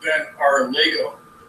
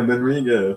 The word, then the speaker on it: Ben Arlego: It's pronounced Ben Arlego. Ben Arlego. Okay. It looks like an I to me.